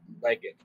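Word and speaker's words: legate: Right, I was saying that the word that you mispronounced is pronounced legged. It was a position in the Roman military.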